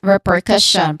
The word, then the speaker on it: repercussion: This is repercussion. Pronunciation wise, we start with the first syllable, re, which has a short, not short, but long E sound.